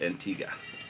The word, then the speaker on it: Antigua: pool so I have a question you said Antigua yeah I was Antigua it's spelled Antigua but it's pronounced Antigua okay thank you yeah and Dominica is is